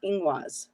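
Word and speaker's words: Ingwaz: Now, this is pronounced ingwas, right? Yes.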